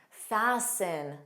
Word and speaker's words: fasten: This is common with ST spelling. Not a rule, but a pattern. Listen, sin, listen. Fasten, fasten.